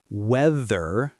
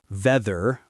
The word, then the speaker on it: weather: It's weather, not veather or weeder. Yes, the TH sound in English is special. We put our tongue between our teeth a little bit.